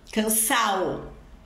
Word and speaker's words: cansado: particípio formado em ado é comum a gente eliminar aí essa essa letra D da do particípio então por exemplo cansado cansao passado passa olvidado orbid